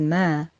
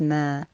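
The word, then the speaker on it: ما: the word in question in the verse is mer which simply means what as the translation correctly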